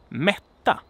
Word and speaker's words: mätta: a long syllable, but either the consonant is short and the vowel is long, or the vowel is short and the consonant is long. And I have an example here to so that you can hear what this is about. So we have, for instance, mäta, which means to measure, mäta. But we also have mätta, which means to feed, to make someone not being hungry, to feed, basically. Mätta.